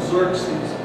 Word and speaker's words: Xerxes: know king of has AAR I prefer called Xerxes it's a little easier to pronounce uh how Xerxes when re in Persian